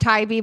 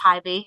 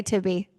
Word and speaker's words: Tybee: It's actually pronounced Tybee, but it oh, is Tybee. all Okay. the tourists say Tibby, which make us all laugh.